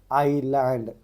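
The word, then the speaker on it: island: हो गया आपका टॉक एल साइलेंट हो गया आईलैंड आई एस साइलेंट हो गया लाइटन जैसे कि जी साइलेंट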